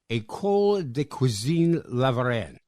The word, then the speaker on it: École de Cuisine La Varenne: management, top of the class at the Paris-based École de Cuisine La Varenne. Did I pronounce that correctly?